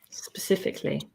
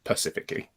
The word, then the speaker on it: specifically: Um, most hated grammatical error or mispronounced word specifically as in when people say it pacifically.